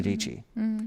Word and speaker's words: Dietschy: you're going to be Sarah DIETSCHY. That rhymes with PG.